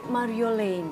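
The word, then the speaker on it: Marjolien: Oh bacanya Mario Lane. Laine. Heeh. Dan itu akhirnya Iy itu dibacanya E itu kan Belanda sekali ya.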